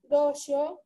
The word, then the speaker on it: दश: दश नहीं बोलना है, दश बोलना है।